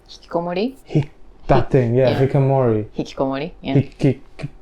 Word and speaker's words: Hikikomori: How do you pronounce it? Hikikomori. Hikikomori.